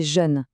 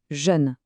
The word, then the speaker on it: jeune: Le deè c'est jeune. J E U. Encore une fois, un jè arrondi pour le e. Jeune.